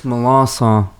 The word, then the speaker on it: Melancon: Yeah, it's Milanson. Milans. That's it.